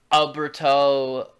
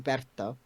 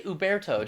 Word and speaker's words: Uberto: I guess you're in Americ just just just say Uberto. Just just put the emphasis on the E. Uberto. Yeah, but instead he said Uberto.